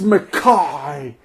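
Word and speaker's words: MacKaye: no it's crop like i just imagine like going up to ian and saying hey hey what's up um mckay he's like it's makai or like guy picciota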